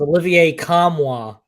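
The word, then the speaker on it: Olivier Nkamhoua: want me to hit it for you it's Olivier kamwa yes it is Olivia kamwa all right so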